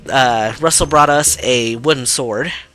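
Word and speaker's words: Rusl: Like, Colin's father's name is spelled R-U-S-L. I usually pronounce it just Russell.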